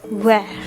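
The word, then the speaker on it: vert: all right what is green called in french where v e r d what is red called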